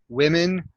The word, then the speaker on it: women: one small pronunciation correction when you said the word women it sounded a little bit more like women so uh listen to the difference so it's women women so you kind of